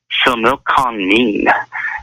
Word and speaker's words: Similkameen: It was a 2013 consensus, and it was from Similkameen, and that is Similkameen. And it's pronounced Similkameen, okay?